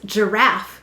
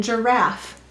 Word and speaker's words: giraffe: earth why did the g say j g may soften to j before an e i or y and there it is so it's saying ger and then why do we have a silent e in giraffe this is an unseen reason